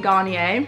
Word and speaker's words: Garnier: first of all I got this SPF from Garnier that's how you pronounce it 50 plus SPF let me unbox